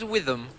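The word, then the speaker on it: Whitham: My name's Witham. Witham. Yes, Witham. How do you spell that, Witham?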